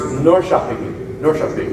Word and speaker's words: Norrköping: It's pronounced Norrköping.